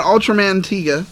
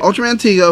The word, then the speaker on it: Ultraman Tiga: I recommend Ultraman Tiga, right? Yep. All right, cool. You said it right. Ultraman Tiga, of course.